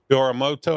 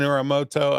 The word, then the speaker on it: Uramoto: Oramoto. I think I pronounced it right. You did. You got All it. right, Uramoto, thank you for being on the program today